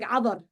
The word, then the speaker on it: Cadar: It's pronounced like Adar.